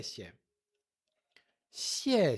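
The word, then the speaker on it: 谢谢: O X é pronunciado com a ponta da língua.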